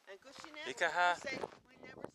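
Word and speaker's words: Hágoónee': Gushi-ne. Gushi-na.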